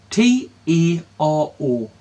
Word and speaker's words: Taro: T-A-R-O. Taro. Towel. Like tarot cards without the T at the end. Well, that you don't pronounce.